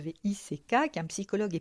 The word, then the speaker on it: Watzlawick: Car oui, la communication est au cœur de toute relation saine et comme l'a dit Paul Watlawick, alors excusez-moi pour la prononciation, Watzlawick, qui est un psychologue et pionnier de la thérapie systémique, on ne peut pas ne pas communiquer.